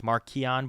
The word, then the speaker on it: Marchion: I saw there's confusion between the Marchion versus Markion. Apparently it's Markion, but the audiobooks always say Marchion.